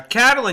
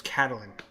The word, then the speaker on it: Catelyn: Yeah, Catelyn. You guys keep mispronouncing her name. It's Catelyn. Nope, it's Caitlyn.